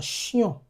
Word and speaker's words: chien: Now, another one is uh chien. Chien. Chien. When you had an extra N here to that word, it becomes chienne. Chienne. The nasalization has been removed.